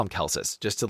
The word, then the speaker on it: Celsus: So people just call him Celsus just to like make it. And it's spelled with a C. It's like Celsius minus the I, but it's pronounced Celsus.